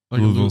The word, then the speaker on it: Louisville: I think Louisville. You in don't say the S.